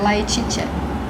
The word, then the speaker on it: Laetitia: Em Letícia. latim. Olha! Escreve Laetitia, quer dizer alegria. Olha, Laetitia. Laetitia, né? Laetitia. Que fala Letícia. Mas se escreve com T.